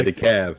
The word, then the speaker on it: DeKalb: yeah, the cab. Yeah. DeKalb is DEKALB, Mm-hmm. but the L is silent.